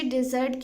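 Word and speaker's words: desert: एक बार गौर से देख लीजिए डिज़र्ट की स्पेलिंग, इसमें डबल एस है. डेजर्ट में सिर्फ सिंगल एस होता है. प्रोनाउंसिएशन भी डिफरेंट है, डिज़र्ट और डेजर्ट.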